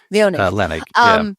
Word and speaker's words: Leonnig: Leonnig. Leonnig.